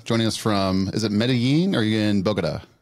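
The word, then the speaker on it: Medellín: Medellin. Medellin is what I think it's actually Medellin. Medellin? But, oh, there's like a Medellin. Yeah, Medellin, yeah. The two L's. Medellin, like that.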